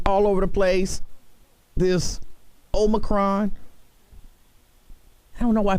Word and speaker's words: omicron: i don't know why people keep calling it omnicron i mean you know people don't people make mistakes i keep one to call it omarion so i can understand people mispronouncing but omnicron but this omicron is spreading like wildfire